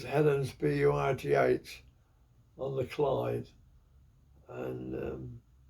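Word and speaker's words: Helensburgh: hel ensboro we they we pronounced it ensboro but it was Helen bugh on the cide and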